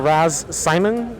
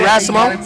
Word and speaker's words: Raz Simone: Do you know of the individual Raz Simon? Raz Simon? Raz Simon? Raz Simon? So what? Raz Simon. Oh, you're saying his name wrong. You mean Raz Simone?